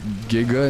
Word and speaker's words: Giga: It's Giga, not Hard G.